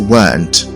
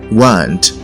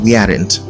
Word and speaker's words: weren't: n apostrophe T now this word is often mispronounced as we aren't rather it should be pronounced as weren't weren't not we aren't so it is wrong